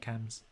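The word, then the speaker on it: CAMHS: has had many adverse cams experience ca mhs is that how you say it cams yeah cam's yeah yeah yeah you're a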